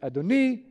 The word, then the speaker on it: Adoni: But because it's pronounced in the Masoretic text Adoni, you are clearly wrong, Mr.